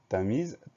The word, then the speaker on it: Tamise: s'écrit avec un s puisque ce s est encadré par deux voyelles donc un ace encadré par deux voiles se prononcent tamise t majuscule à un